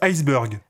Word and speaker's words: iceberg: Ça se prononce iceberg. Ah non, ça se prononce iceberg. T'es sûr? Ah ouais, certain. Mais on dit bien burger. Ouais, mais ça s'écrit pas pareil.